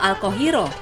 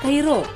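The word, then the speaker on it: القاهرة: Nama Kairo sendiri baru diperkenalkan pada zaman kerajaan Fatimiyah pada 969 Masehi dengan nama Al-Qahiro. Tapi para pedagang Eropa membacanya Kairo.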